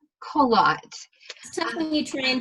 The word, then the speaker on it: Coillot: last name close its collat qalaat you train in take French and make it American well it is great